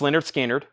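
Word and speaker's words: Lynyrd Skynyrd: Terry Gearhart wants on the waiting list for pronounced Leonard skinnard and then uh David bit 16 on the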